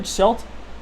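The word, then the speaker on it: Schuldt: Schult.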